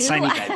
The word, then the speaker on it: sine die: sine die, that's what it is. Okay, so sine die, has it been officially stated by either the speaker or the Senate Majority Leader?